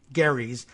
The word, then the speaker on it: Gerry: passed on Elbridge Gerry Garry's surname was pronounced with a hard G but gerrymander is pronounced with either a hard or soft G so I guess we